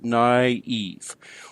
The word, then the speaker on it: naïve: The whole word is one is naïve, so the only way to really indicate that the both the "a" and the "i" are to be pronounced, that we don't have a diphthong here, is we put a diaeresis over the "i" to indicate that there are two syllables here: naïve.